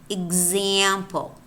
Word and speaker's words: example: Example. Example. Notice how here we don't have a k or a g, yet it's pronounced g.